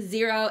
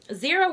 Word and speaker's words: Xero: as I mentioned before the accounting software is zero spelled with an X is an alternative to QuickBooks zero was founded in New